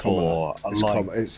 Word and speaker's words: Kamala: Kamala Harris was for Kamala. It's Kamala. It's pronounced Kamala.